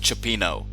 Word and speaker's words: cioppino: and we're gonna see that later and it's pronounced cioppino so peanut yeah I'm sorry I didn't look